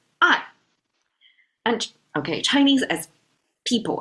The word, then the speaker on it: 爱: It's pronounced as "ai."